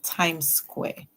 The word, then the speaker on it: Times Square: So remember, in times, the E at the end is silent and the I says I, like in excited and smile.